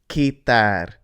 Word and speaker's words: quitar: So that means that the beginning part is pronounced ki. So this word is quitar.